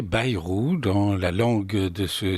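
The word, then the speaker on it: Bayrou: ce que monsieur Bairou, je précise qu'il faut prononcer Bairou dans la langue de ce de Bernise et non pas berou hein.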